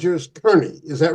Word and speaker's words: Kearney: spent time with us his last name was spelled the same as yours but pronounced Carney you're you pronounce yours Kerney is that right yes